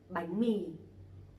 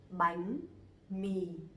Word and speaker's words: bánh mì: The name of the letter is bờ, but actually you pronounce the same, okay? Like B. In examples, bánh mì, bánh mì.